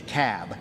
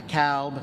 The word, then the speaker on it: Cobb: the room it's the cab not the cowb not the cobb it's the cab so we got to pronounce these things dougherty another one of those where albini is they're 74.